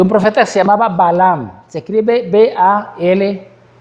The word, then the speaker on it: Balaam: Y había un profeta que se llamaba Balaam. Se escribe B-A-L-A-M. Balaam.